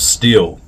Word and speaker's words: Stihl: Channel by the way called Men of Steel and it's spelled s HL Men of Steel um like the chainsaw brand and it is going